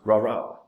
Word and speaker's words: Rara: Pronounced Rara, like a cheer.